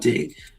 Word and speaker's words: Butte: of four in You pronounce it You pronounce it Butte? I don't Butte, Montana.